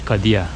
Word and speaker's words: Kadija: J'ler Y diye okunuyormuş. Kadia.